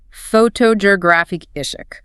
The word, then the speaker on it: photographic: And finally, the adjective form, photographic. The stress moves all the way to the third syllable.